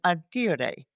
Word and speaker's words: agere: The word management comes from a Latin word, manos, which is hand, and agere. That's the Latin pronunciation, the way Caesar pronounced it.